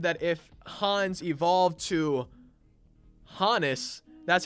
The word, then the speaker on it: Honus: me to believe that it is indeed pronounced Hannes especially the fact that his parents were from Germany and that his name